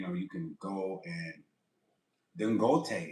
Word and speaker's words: Dangote: you can go and Dangote. His name is Dangote. I think it's Gote. That's how you say it. Dangote.